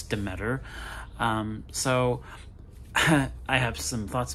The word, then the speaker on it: Demeter: Last Voyage of the Demeter, and however you pronounce that. I think it's Demeter.